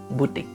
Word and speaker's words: butik: butik udah gitu aja dan memang memiliki pelafalan yang sama butik Nah kalau dalam bahasa